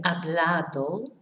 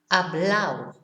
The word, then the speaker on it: hablado: in this area is the ado. It here is pronounced au. So instead of saying supermercado, they will say supermercado. Instead of saying hablado, hablao. Comprado, comprao.